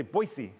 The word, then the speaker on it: Boise: Out west, Billings, Boise, I think they say Boise is how they say it out there.